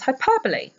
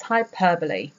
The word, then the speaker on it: hyperbole: know how to pronounce hyperbole. So for the records, it's hyperbole, not hyperbole.